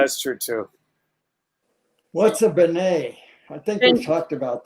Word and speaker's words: beignet: So yeah, that's the one thing I remember is the beignets. Oh, I'm sorry. How do I pronounce it? Beignet.